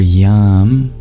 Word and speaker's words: yam: And then for yam, To add vibration, it's kind of like the sound at the end of the word massage.